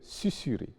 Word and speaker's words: susurrer: Il y a donc des exceptions, notamment dans les cas où le S est entouré de voyelles, mais se prononce quand même S. Il s'agit de susurrer, vraisemblance, tournesol, qui sont en fait des mots composés déguisés.